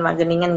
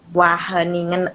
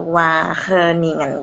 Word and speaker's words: Wageningen: Nah, itu cara bacanya bukan Wageningen guys, but Wageningen or Wageningen gitu. Iya, bener.